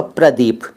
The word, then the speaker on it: प्रदीप: पंजाब में तो इस तरह से चलते ही है, प्रदीप, जतिंदर, धर्मिंदर, बलजिंदर, लेकिन आपका सही जो उच्चारण होगा ना नाम का वो होगा प्रदीप। प्रदीप, प के नीचे वो जो र लगता है ना, प्रदीप, लेकिन